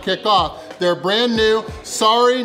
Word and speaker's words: sari: off their brand new Sari Not Sorry Filipino food challenge. Now, I've only got 45 minutes to finish everything here, and it is Sari Not Sorry. The first sorry is spelled S-A-R-I, and that basically means variety.